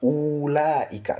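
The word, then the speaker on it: أولئك: Ici, on dit, notons que le waw de ulaika n'est pas prononcé. Nous voyons ici, il y a un waw. Ça peut nous donner l'impression qu'il y a un allongement, mais en réalité, il n'y a pas d'allongement. On ne dit pas ulaika, c'est pas ulaika, non, mais c'est ulaika. On prononce le ou sans allongement. Ulaika. Donc, c'est ce qui est dit ici. Ce mot est prononcé ulaika, sans allongement.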